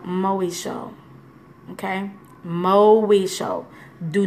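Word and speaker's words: μοιχεία: The Greek word for adultery is called moesho. Okay? Moesho. Do not ask me how to spell it.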